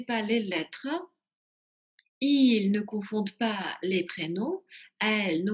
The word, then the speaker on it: confondent: Обращаю ваше внимание, как и в предыдущих глаголах, здесь во множественном числе «d» произносится, а в единственном нет. То есть «confondons», «confondez», «confondent». И voilà.